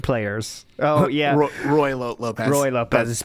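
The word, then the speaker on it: Ruy Lopez: And he doesn't want to face online Rue Lopez pattern players. Oh, yeah. Roy Lopez. Roy Lopez. That's how Talby spelt it, R-U-I, by the way. That's how it's spelled, and that's how it's pronounced.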